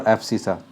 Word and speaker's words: abscissa: X coordinate or abscissa. This is pronounced as abscissa.